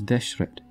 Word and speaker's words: Deshret: the red land in ancient egyptian it is deshret the nile was also the most important transport